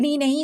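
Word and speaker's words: knee: हो जाएगा साइलेंट उसको करा देंगे हम चुप ठीक है तो यहां पर इसको पढ़ेंगे क्र नहीं इसको क्या पढ़ना है नी पढ़ना है क्योंकि के जो बेचारा है वो चुपचाप बैठा हुआ है ठीक है तो इसको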